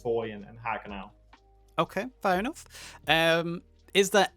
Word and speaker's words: Haguenau: As far as Chapter 4 goes, the 2 planned maps are as of now are Foy and Haguenau. That's how you pronounce it.